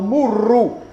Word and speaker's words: murru: Quando si agglutinava in sumerico, quando agglutinavano due sillabe, la successiva si raddoppiava, per cui pronunciavano murru, anche se è scritto nei dizionari muru, con una sola R.